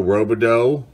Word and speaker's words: Robidoux: Gary Renicki, Bob Kierney, Mike Pagliarulo, Dan Plesac, checklist of Yankees, Rangers, Tigers, Phillies, Billy Joe Robidoux, that's how you say his name, Joaquin Andujar, Frank Tanana,